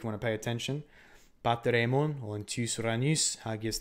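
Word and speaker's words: ἡμῶν: I like to use the reconstructed Koine pronunciation, which still pronounces eta as e. So pater emon or hemon, if you do the H.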